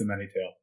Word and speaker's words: A Many Tale: a mini tale and is that how it's pronounced yeah yeah it's a many tale and some people think it's or find it